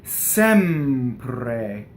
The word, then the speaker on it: Sempre: Next word, Sempre. Open E, double M, and then a rolled R.